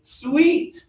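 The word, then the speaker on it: suite: This is a sweet. Sweet. Yeah, it's really the same sound as the flavor of candy.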